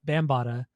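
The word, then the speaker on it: Bambaataa: listened to today was Africa Africa Africa bamb bambata I guess it's how you pronounce it we' I've always pronounced it wrong but it's bambata um it's that bambata it's bambata bambata that's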